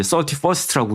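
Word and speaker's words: 31st: 베스킨 라빈슨 생각하면 된다고 썰티원. 근데 여기는 이제 서티퍼스트라고 읽죠.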